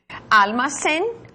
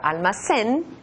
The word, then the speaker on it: almacén: Almacén, almacenes. Observa que cuando pronuncio esta palabra almacén, la letra N está detrás de los dientes, almacén.